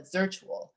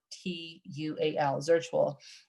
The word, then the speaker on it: Zirtual: And I believe those folks there, I'm sorry, not Virtually, it's called a Zirtual, Z like zebra, IRTUAL, Zirtual.